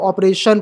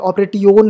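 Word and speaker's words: operation: आप देख सकते हो ऑपरेशन पढ़ेंगे इसे ऑपरेट योन नहीं पढ़ेंगे कॉपरेशन पढ़ेंगे कॉपरेट ओन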